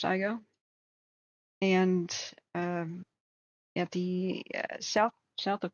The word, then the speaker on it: Igo: It's pronounced Igo.